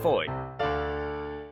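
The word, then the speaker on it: Fowey: a population of 2,200 I just can't get my head around the pronunciation fancy dropping an entire two letters in a short word like that I arrived here around 8:00 a.m.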